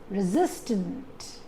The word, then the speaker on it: resistant: Similarly, resistant. You don't put the stress on re. You call it as resistant.